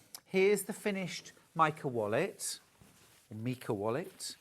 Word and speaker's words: Mika: Mika wallet.